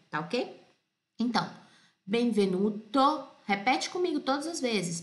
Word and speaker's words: Benvenuto: pelo é o Né em italiano as coisas se pronuncia do jeito que são não tem dois sons para mesma sílaba para a mesma letra Tá ok então Benvenuto Repete comigo todas as